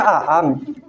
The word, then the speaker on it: Aang: di WA sama Kakak Eng, yang mana Kakak Eng yang bisa terbang? Yang mana Kakak Eng, Kak? Ada yang namanya Eng di sini. Oh, Namanya Aang. oh Aang. Oh, bacanya Aang.